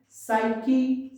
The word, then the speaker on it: psyche: Silent P, psychology, psych, psyche, psycho, and pneumonia.